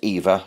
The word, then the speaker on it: Ewa: course viva all in it's pronounced eva even though it's spelled ewa i suppose that's because